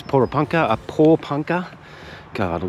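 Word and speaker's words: Porepunkah: I said Poranka before that we just spoke to a local and they told us how to pronounce it. So apparently it's Pora Panka.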